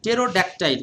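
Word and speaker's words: pterodactyl: এটা দেখেন টেরোডটাইল টেরোডেক্টাইল টেরোডেক্টাইল কিন্তু এখানে পি এর কোন উচ্চারণ নাই টেরোডটাইল মানে কি প্রাচীন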